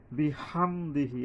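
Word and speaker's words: بِحَمْدِهِ: বিহামদিহি, এই যে হা লম্বা হা, উচ্চারণে সাবধান হইতে হবে।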